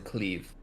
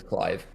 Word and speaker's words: Clive: I've heard people pronouncing cleave but his name is Clive because it's an English name yes said cleave in